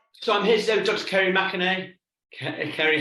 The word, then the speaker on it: McInerney: changed it because you're married, so hopefully that's pronounced correctly. I did, yes, it's McInerney. McInerney, so there we go.